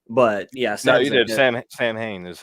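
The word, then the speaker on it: Samhain: Sam Hain is how you say it.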